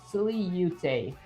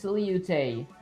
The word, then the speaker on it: silhouette: Okay, start with silly, so silly-ute. Oh, so it's silly-ute.